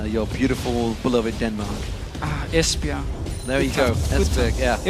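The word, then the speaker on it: Esbjerg: fishing town in your beautiful beloved Denmark ah espia there you go yeah it was actually one is that how you pronounced it I I said esberg I do yeah there we go today I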